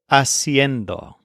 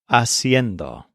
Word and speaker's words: haciendo: let's learn the gerund this is a pretty tricky word haciendo it's kind of like siendo but with an extra syllable haciendo we can use this